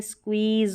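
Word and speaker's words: squeeze: और आखिर में जब भी ई आता है लास्ट में स्पेलिंग के, तो उसको नहीं पढ़ा जाता, वो साइलेंट रहता है। तो ये स्क्वीज हो गया।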